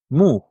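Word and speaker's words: μου: The next one under it is moo.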